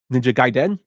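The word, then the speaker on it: Ninja Gaiden: on the NES uh I found out how to pronounce it through the 1989 film The Wizard which is ninja gaen he goes hiya uh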